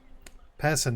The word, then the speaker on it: Pison: Oh, Pison is the pronunciation for the name.